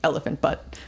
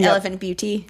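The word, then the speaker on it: Elephant Butte: of elephant but and this town is spelled like it would sound like elephant butt I was going to say elephant Beauty yeah exactly it does have an e there it is actually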